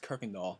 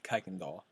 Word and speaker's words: Kuykendall: module instructor kuykendahl yes Kuykendall not Kuykendall it's a Dutch name that's how it's pronounced well we've been talking